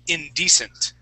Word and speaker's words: indecent: here that I'm highlighting that word is indecent indecent good with that accent right on this uh this first e okay indecent nice job